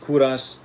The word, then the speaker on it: Kovras: So it's pronounced Kouras.